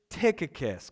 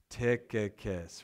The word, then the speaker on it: Tychicus: Who is Tychicus? Can you guys say that with me? Tychicus, right?